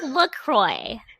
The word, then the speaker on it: LaCroix: You're taking something, the LaCroix, and I think that's how you say it, LaCroix. Yes, LaCroix. Yeah, okay. So you're taking like those brands that watch us both be wrong, and someone is like, it's LaCroix. LaCroix.